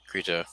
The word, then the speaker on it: Krita: i'm using i'm a cr creta where it's pronounced k-k-r-i-t-a krita because that slime send us this kind of